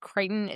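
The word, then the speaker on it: Crichton: Writer is Michael I think Kiteon is how you pronounce his name.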